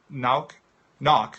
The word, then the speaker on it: Nauck: I'm I'm bound to have family, relatives, distant relatives that live in Germany since knock is how we say it in the States now is the German pronunciation.